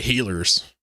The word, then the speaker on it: Gila: Gila with a hard G. Gila. Around here we say healers.